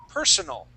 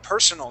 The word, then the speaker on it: personal: If we have an a at the end. Okay. An a at the end that is personal with the uh the accent at the very beginning of the word.